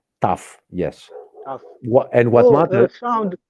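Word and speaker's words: ταυ: Tough. Tough. Yes. Tough. What matters? Sound like English. Tough, like firm.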